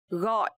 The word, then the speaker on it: gọi: So here, letter G in Vietnamese we pronounce like G. G. And also the tone mark is dấu nặng. So this word we will pronounce gọi.